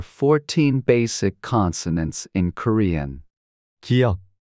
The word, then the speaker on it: 기역: This is pronounced like a soft G in go or K in key. 기역.